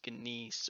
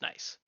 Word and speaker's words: gneiss: rocks joke yet it's it's not pronounced gise or Janice orce it's just nice like n ni nice so nice rocks so